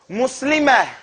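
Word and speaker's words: مسلمة: and they notice that Americans don't pronounce the last sound. They don't pronounce the last consonant of an H, the ha.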